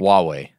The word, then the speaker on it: Huawei: Huawei. Is that how you say it? Yes. Huawei.